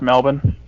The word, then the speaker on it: Melbourne: Yeah, it's pronounced Melbourne.